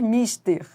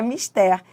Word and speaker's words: mister: Ou seja, não é correto dizer mister, né, do inglês. Se fosse inglês seria mister, mas é mister.